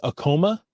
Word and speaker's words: Acoma: The first one I pronounced as Acoma, right? Because Tacoma. It's like Tacoma without a T.